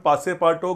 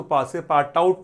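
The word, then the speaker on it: Passepartout: this message his servant पासे पाटो grabs Phillies इसको पासे पाटो पढ़ना है इसको पासे पाट आउट नहीं पढ़ना है यह जो है ना यह यूटी साइलेंट है पासे पाटो पासे पाटो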